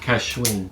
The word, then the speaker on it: Cascahuin: Cascahuin. Cascahuin. A lot of people pronounce it different ways.